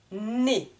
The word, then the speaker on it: nez: farine la farine le nez attention ez se prononce et comme eux avec un accent aigu le nez une natte